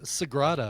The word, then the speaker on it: Sagrada: How do you spell it? How do you say it? Sagrada. Sagrada.